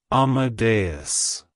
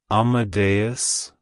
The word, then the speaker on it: Amadeus: God it's pronounced as Amadeus Amadeus Amadeus to pronounce it correctly emphasize the a sound at the beginning and the bus at the end the stress is on the second syllable like hello Amadeus goodbye